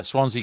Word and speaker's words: Swansea: I'm not listening to um Americans and Canadians pronouncing it's not called Swansea Swansea Swansea yeah it's just yes it's uh Swansea Cardiff Newport are you gonna get a Welsh